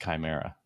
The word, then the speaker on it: chimera: I didn't want to say anything, but it is pronounced chimera. Oh, it's chimera.